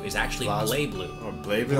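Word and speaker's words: BlazBlue: the correct pronunciation of blaze blue is actually BL blue BL the Z is apparently silent I've never known that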